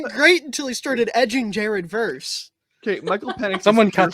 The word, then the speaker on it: Verse: yes is the piit Jared verse is a Buccaneer you say it like spiderverse into the Jared verse